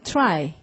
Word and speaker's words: try: 어떻게 하는 거냐면 try 할 때 요 부분을 I 이렇게 발음하는 거죠. 자, 소리 I 하고 입을 닫으면 이 소리가 그냥 끌려오는 거죠. 이가 아니라 다시 I.